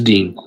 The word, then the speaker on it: Dean: Hey, man. Hold on, my bad. I said it wrong. Is it or Dean? It's Dean.